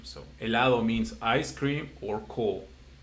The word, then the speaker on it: helado: And the last one, the same, helado, which is like there is no H because, like I said again, Mm-hmm. there is no pronunciation. So helado means ice cream or cold.